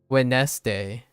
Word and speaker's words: Wednesday: h no no no how many syllables does Wednesday have Wednesday has two syllables that's what it says